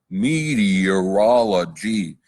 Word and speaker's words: meteorology: a la meteorology meteorology it's tough to say kids say it meteorology meteorology six syllables superintendent looked astonished gave